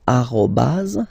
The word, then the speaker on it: arrobase: it should be used, so arrobase, okay. Here, so the dot, okay, because it's not always easy to spot here, we call it point, okay, point, all right, so one more time, tiret, tiret bas, arrobase, point, okay, and then